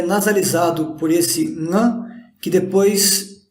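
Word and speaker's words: ङ: É um som nasal. Teoricamente seria pronunciado Nga. Se a gente fecha a garganta, na mesma posição que a gente fecha para falar K, a gente fecharia para falar Nga.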